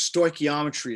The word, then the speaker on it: stoichiometry: if you go to module 4 whoops too far which is stoichiometry essentially that's how you say it we've got